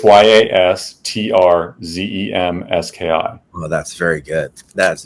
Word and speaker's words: Yastrzemski: The funny thing is, I used to, when I was a kid, purposely pronounce it Yastrzemski because I knew that's how you spell it. So you can get it. See, like to this day, I always get something wrong. I believe it's Yastrzeemski.